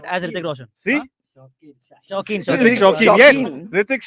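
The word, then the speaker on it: Shokeen: Ritik is spelled as Ritik Roshan. see Huh? Shaukin.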